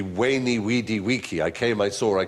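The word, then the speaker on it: veni, vidi, vici: When I was taught Latin, we were taught to pronounce the V as a W. So it would be Weni, Weedy, Wiki.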